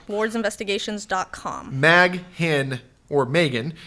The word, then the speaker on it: Maghen: You can Google Megan Ward, which is spelled Mag Hen Ward.